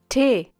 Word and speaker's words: Tee: Tee, tee, tee, tee. Tee is a little softer than it is in English.